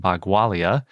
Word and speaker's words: Bagualia: if you can't tell by the way i'm pronouncing it the new dinosaur is named bagualia not to be confused with bhagwalasaurus when i